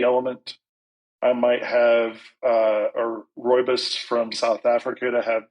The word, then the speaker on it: rooibos: someone's not familiar with Rooibos, it's Rooibos.